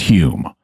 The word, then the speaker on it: Home: steroids yeah so Dei his name is spelled uh home but it's pronounced Hume um and his name was Daniel dunglas Hume he was a 19th